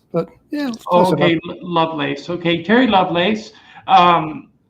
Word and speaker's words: Lovelace: a special guest Terry lovess um am I pronouncing that correctly I say love lace but yeah okay love lace okay Terry love lace um he has a